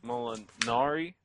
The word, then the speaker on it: Molinari: Sir Molinari. Did I say it right this time? Molinari. Molinari. Yeah, like a canary. I got it now. Molinari. Yeah, it's like a fairy.